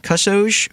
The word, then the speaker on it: kusoge: online labeling it's awful quality as crew shows kusoge which literally translates to us here as shitty